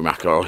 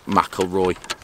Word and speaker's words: McIlroy: finish like him so basically i am rory mcauley i can't even say his name rory mcilroy i think it's just held in the left